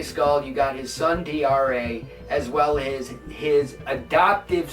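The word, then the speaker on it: D'Are: now dra is pronounced dra apparently it's it's written d um apostrophe a-r-e so it's spelled as dare but apparently it's pronounced dra so you have and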